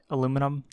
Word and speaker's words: aluminum: need more iron and aluminum or aluminium depending on how where you're from how you want to pronounce that so that will